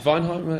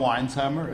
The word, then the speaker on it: Weinsheimer: Ollie put on Ollie is Weinheimer? Is that how you say it? Oliver Weinsheimer. Weinsheimer. Like wine.